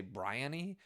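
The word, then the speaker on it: Briony: this on audio and they say briany um uh I I so Brien is kind of how I pronounced it when I was physically reading it so I'm gonna probably switch but it's these two characters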